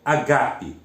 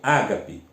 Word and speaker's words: agape: Ela vem de uma outra palavra grega, que é agape. Em português, algumas pessoas pronunciam ágape. Em grego, agape.